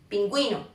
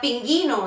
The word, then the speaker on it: pingüino: u con diálisis Okay pingüino pinguino si no Si no existiera esta letra se diría pinguino en lugar de pingüino Okay entonces bien cuando